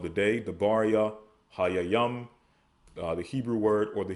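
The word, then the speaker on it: דברי הימים: So the book of Chronicles in Hebrew is the matters of the day, Debaria, Hayayam.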